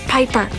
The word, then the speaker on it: Piper: crane aand of binds the name's Piper rhymes with viiper and Robin Williams I'm